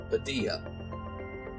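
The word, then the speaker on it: Padilha: espanol uno momento Jose Padilla I believe Padilla yeah Padilla the H in Spanish is silent ugly so director Padilla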